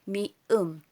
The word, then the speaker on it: 미음: Tapos ito naman, which is M sa atin, that is mium. Binibigkas itong mium.